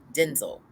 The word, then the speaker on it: Denzel: fly away or the unit or working with Denzel Washington there's a video floating around where he said his name is actually pronounced Denzel but that's another story but that is another